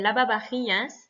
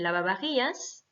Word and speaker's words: lavavajillas: dire le lave-vaisselle, el lavavajillas. Donc, il y a à chaque fois VA, VA. Hein, attention, le V se prononce B, donc el lavavajillas.